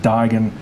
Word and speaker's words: Duigan: rather alarming i mean it's the way that uh my father my grandfather his great his grandfather etc pronounced the name so it's always rather